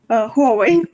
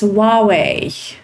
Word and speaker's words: Huawei: It's Huawei in English. Yes, Huawei. In Russian, we say Huawei. Yeah, so it's like we see it, and this is the way we pronounce it. And this is Chinese way of pronunciation.